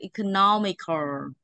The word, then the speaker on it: economical: economical đâu mà là economical economical được chưa đọc như thế không đọc economic nhớ chưa economic không phải đ